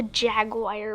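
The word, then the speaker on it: jaguar: a leopard a cheetah or a yog wire I think they call me AG wires it's a Jag wire room and I think it's pronounced yeah yeah it's a jagwire anyways say can they comment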